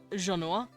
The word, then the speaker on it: Genua: They are called my Genua, which they pronounce it Genoa. Genoa. Like this. Genoa. But the humans hear Gernua. They don't know what they're hearing. Genoa.